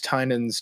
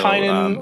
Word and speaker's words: Tynion: Covering James Tynan's Department of Truth comic. Have you heard of that? I don't know what that. I barely even know who this person is. So Tynan, I'm happy to do a future episode on James Tynan.